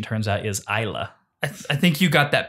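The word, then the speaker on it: Islay: bounds of the Discord but um we've been pronouncing it elay Scotch whiskey and uh and the correct pronunciation turns out is ISA I think you got that backwards because I've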